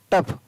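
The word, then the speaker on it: tough: TOUGS, टफ, तो टफ की spelling क्या होती है, TOUGS, टफ। फ के लिए क्या रहा है, GS।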